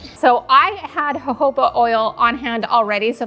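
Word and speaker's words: jojoba: It is Hoba oil, but it is spelled J O J O B A.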